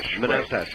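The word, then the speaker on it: Manastash: Uh, how do you pronounce the name of your town? Manastach. Oh. Oh, manast. Manastach.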